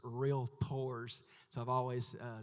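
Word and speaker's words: Realtors: And uh I made the mistake of addressing and saying realators and David said at the end he said if you're going to sell to real tours you need to know how to say it. So it's real tours.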